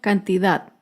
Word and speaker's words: cantidad: tilde es la palabra cantidad. Cantidad se acentúa en la última sílaba, pero no lleva tilde porque no termina ni en vocal ni en las consonantes N o S.